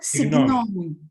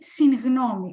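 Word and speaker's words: συγγνώμη: I hope not signomi, not signomi, syngnomi. Why? Because it's the preposition sin plus gnomi, opinion. Okay.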